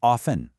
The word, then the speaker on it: often: Often is usually pronounced with a silent T as often.